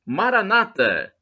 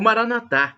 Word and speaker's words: Maranatha: atenderá e do aramaico Eu Clamo Maranata como dizemos evangélico sou protestante nossos irmãos separados com a tônica na penúltima sílaba ou Maranatha e como dizemos nós católicos com a tônica na última sílaba exposta por que vem